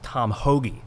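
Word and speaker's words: Tom Hoge: asked to interview a professional golfer his name's tom hoagy has everyone uh no it's spelled h-o-g-e but i thought all right look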